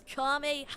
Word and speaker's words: Kamehameha: Kame! Dude, you're not even saying it right. It's Kamehameha.